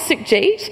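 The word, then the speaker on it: Sukhjeet: of difference and really clap out the syllables in my name so my name is sick Jeet and we're gonna when I say suck you say Jeet is that possible Percy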